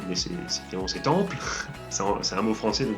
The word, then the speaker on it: Temple: dis Temple, mais c'est Temple, c'est un mot français, donc disons la française. Enfin, je dis pas que c'est un mot français de base, je dis que ça se prononce à la française, du coup, si c'est